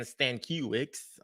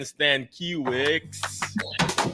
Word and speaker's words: Stankiewicz: Stankiewicz. Hi. Dr. You're, am I close. pronouncing that right? You're close. It's Close. Okay. Stankiewicz, but hey, I've heard many different pronunciations, so I am not offended whatsoever.